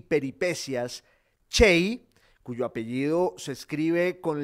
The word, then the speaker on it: Cey: 1513 y murió en 1579 se llamaba galeoto chey fue un viajero un comerciante un burgués y